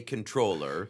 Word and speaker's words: comptroller: It's like the the word is, you know, it's um it's a French spelling of an English word.